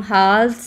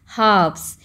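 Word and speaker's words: halves: लेकिन यहां पर देखिए एच ए एल वी ई एस हा्स लेकिन इनको हम हाल नहीं पढ़ते क्या बोलते हैं हाफ्स यहां पर एल क्या है साइलेंट एल की आवाज नहीं आती है ठीक है हाफ्स में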